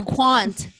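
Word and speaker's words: Qwant: i use proton oh for search i use quant quant quant how do you spell that want q-w-a-n-t out of france and and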